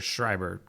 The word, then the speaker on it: Schreiber: and that's that Dr Schreiber calling again is it Schreiber or Schreiber it's like shrubber she's like there's a